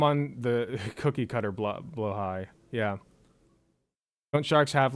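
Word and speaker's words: Blåhaj: Blaha yet or the blo high some of you know as blahaj because that's how it's spelled but it's pronounced blo High uh because I did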